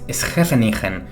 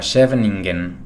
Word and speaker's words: Scheveningen: Otro ejemplo de shibboleth es Schefenigen usada por los neerlandeses también durante la Segunda Guerra Mundial para diferenciar a los alemanes, ya que en alemán se pronunciaría algo así como Scheveningen.